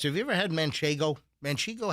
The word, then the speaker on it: manchego: Have you ever had manchego? Mano. How do you How do you pronounce the damn thing. I'm I'm pretty good at pronunciations usually. I say maniggo.